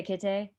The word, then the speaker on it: Kitteh: but it's spelled Kitteh, kind of like the LOL cat Oh, Bible. yeah. So Kitteh.